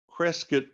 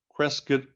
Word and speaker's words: Crescit: McKenna's motto in Latin, Crescit cum commercio civitas, all those C's in a row, which in ancient Latin were all pronounced with a K sound, Crescit cum commercio civitas, that's another example of alliteration.